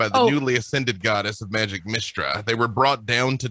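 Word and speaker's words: Mystra: But she immediately comes back as Mistra. Oh, thank you. That's cheating. You said Mistral earlier. I'm like, have I been mispronouncing that name this whole time?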